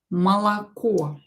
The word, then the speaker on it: молоко: But of course, we'll pronounce it as молоко. This O and this O will be pronounced as A because they are not stressed. Only this O is stressed, so this one will be pronounced as O. Молоко, because it is stressed.